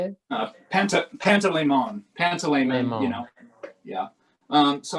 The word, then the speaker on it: Panteleimon: Pantaleimon, Pantaleimon.